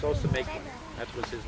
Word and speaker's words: Ousamequin: To Wampanoag, Massasoit, It's pronounced Ousamequin.